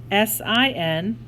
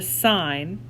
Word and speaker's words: sine: call that a sign it's spelled s-i-n let me make this folder but it's not said sin we call it a sign and it's the sign